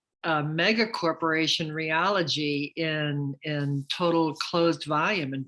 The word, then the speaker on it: Realogy: mega corporation Realogy in total closed volume in 2021.